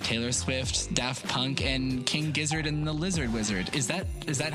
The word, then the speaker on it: King Gizzard and the Lizard Wizard: fan favorites like Taylor Swift, Daft Punk, and King Gizzard and the Lizard Wizard.